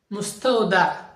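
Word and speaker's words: مستودع: বেতাগা বেতাগা বলা হয় মুস্তাউদা মুস্তাওদা মুস্তাওদা আকাশে একটা আইন উচ্চারিত হবে মুস্তাউদা মুস্তাউদা অর্থ হচ্ছে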